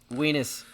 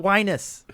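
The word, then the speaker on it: Wienis: you say it is the word is weakness he named the rocket weenus it rhymes with part of your anatomy just say it weenus thank you thank you all right fine whatever i just you know what it's whinus no it's not whinus i tried to figure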